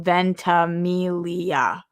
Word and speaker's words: Ventimiglia: ] up cena says milo ventamilia oh the g is silent i love and emilia